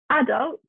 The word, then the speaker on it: adult: you might hear it adult not adult the stresses on the a adult americans dress somewhere different british dress on a adult brochure again we have